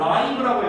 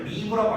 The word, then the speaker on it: live: 여러분 제가 지금 live라고 읽었어요. live라고 안 읽었습니다. 우리가 알고 있는 live는 어디에서 살다라고 해석하죠. 여기서 살다가 아니에요. 지금 제가 live라고 읽었죠. 이 live는 형용사로서 살아있는이라는 뜻이에요. 살아있는. 그래서 발음이 다릅니다. 형태는 똑같은데 발음이 달라요.